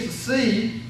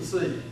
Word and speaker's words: psi: phi, chi, and psi, the C is a difficult one to pronounce. Can be remembered by thinking of a town in New York, Poughkeepsie. It's a stretch, I know, but it's sort of close. Poughkeepsie.